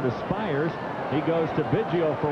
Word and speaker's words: Biggio: a tape recorder and said, "How do you pronounce it?" She said, "Biggio." He said, "Whatever Mom says."